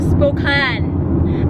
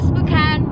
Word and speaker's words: Spokane: to where drivers cocaine getting to spoken I didn't know that's how you pronounce it I thought it's spooky always provided we're heading to spook on with our neighbors our